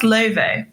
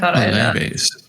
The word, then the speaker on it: Laufey: It's pronounced Laufey. I thought Laufey.